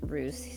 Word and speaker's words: Belarus: Or Belarus, or Belarus. God. Belarus. We pronounce it Rus. Yeah. Here. I don't know So why. Biela is white, so it can be referred to as a white Russia.